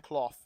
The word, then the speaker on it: Clough: I don't think his name is pronounced Clough, by the way. I've sort of butchered his name. Is it Clough, like rough?